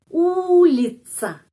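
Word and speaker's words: улица: Ulita ulica. T langsung se itu huruf C. ulica tidak usah the atau seperti bahasa Inggris thank you atau seperti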